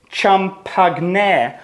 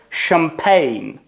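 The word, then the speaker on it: champagne: повинно бути ч і прочитатись як чампагне або щось таке. Воно читається з французьким присмаком. Воно читається як шампей. Шампй, тому що це слова французького походження.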